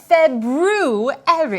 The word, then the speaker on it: February: month we are currently in oh the proper pronunciation for the second month of the year is February I know that because of let's see not